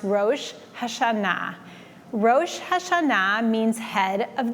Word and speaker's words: Rosh Hashanah: really the difference is the way the people pronounce the Hebrew word in English versus in Hebrew in English many people say rashash Shana but really in Hebrew it's pronounced Ro hashana ro hashana means head